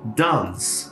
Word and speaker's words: dance: E por último, nessa listinha tem dance. Dance termina com CE. Também o E some.